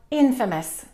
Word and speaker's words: infamous: Number 4, infamous. Infamous. Be careful about that word. It's not infamous. We have the word famous, but this one we stress the first syllable, infamous.